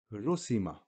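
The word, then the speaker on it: رُسِمَ: So we find on the letter Ra a dhamma, which makes ru, the letter sin with a kasra, which makes si, the letter mim with a fatha, which makes ma. So, ra dhamma ru, sin kasra si, mim fatha ma, ru si ma, rusima.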